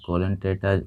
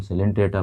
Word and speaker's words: Coelenterata: हम पढ़ रहे हैं यहाँ पर 4 फाइलम, जिसका नाम है कोलेंटेटा, पढ़ सकते हैं, सिलेंटेटा पढ़ा जाता है।